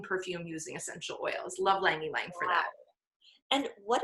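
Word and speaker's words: ylang-ylang: So Lang Ylang, it's spelled Y-L-A-N-G, Huh.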